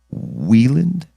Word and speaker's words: Wieland: This is voice acting 101 with Wieland. Back then, sure. Yeah. Weiland. Now I'm Channel. Which one was it? Wieland is my proper. So I said it right the first time.